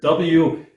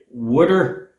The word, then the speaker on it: water: I normally say wooder, like my parents before me and their parents before them, and I will alter that the best I can to pronounce it water, like a normal average American, so that you folks